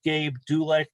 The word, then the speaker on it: Gabe Dulek: Brian has a new album out with Gabe Dulek. Did I pronounce his name correctly?